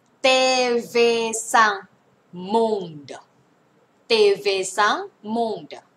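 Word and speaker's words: TV5Monde: เ ล ย แ ล้ ว กั น TV sang monde TV sang monde เ ต เ ว ซั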